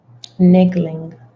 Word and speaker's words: niggling: The nigeling feeling trying to tell you. Now, I want to know how to pronounce this. I really do. We're going to find out. Niggling. Got it.